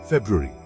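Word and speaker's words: February: आइए 3 शब्दों पर नजर डालते हैं: फेब्रुअरी, प्रोनाउंसिएशन और मिस्चीवस। फेब्रुअरी, लोग अक्सर पहले आर का उच्चारण भूल जाते हैं।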